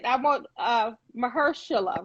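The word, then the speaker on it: Mahershala: winners um i always say i want uh mahershila right that's how you say it i love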